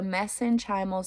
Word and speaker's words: mesenchymal: be anything congenital messenger okay messenchymal I'll just spell it out because I don't think I'm saying it right so m-e-s-e-n-c-h-y-m-a-l so messenchymal cells congenital epulus mesenchymal cells okay it can